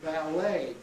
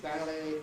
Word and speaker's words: ballet: So Americans say ballet, cafe, debris, garage, right? Whereas we, of course, say ballet, cafe, debris, garage, with our fondness for getting the stress to the front of the word.